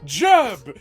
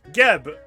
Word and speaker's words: Geb: That's why it cannot be pronounced as Jeb under any circumstances. Everyone back home, you now need to tweet Geb with it, a hard G with an exclamation mark.